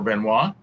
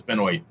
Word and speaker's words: Benoit: the horrible tragedy of Chris Benoit, or Benoit. And I like the way Jericho used to pronounce it, Chris Benoit.